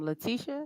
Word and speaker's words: Leticia: the expectations awesome awesome Leticia am I pronouncing that correct yes so my name's Laticia Russell um I'm a self-published